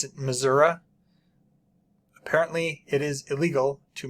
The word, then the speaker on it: Missouri: Missouri yes and I have heard it it's pronounced misery like misery Missouri and I have heard people pronounce it Missoura apparently it is illegal to mispronounce the name